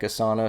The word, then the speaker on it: Asana: also another cool one um also free like asana so you could check those out a s